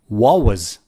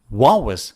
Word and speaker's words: what was: Instead of what, they remove the T and say wa. Wa was. Wa was.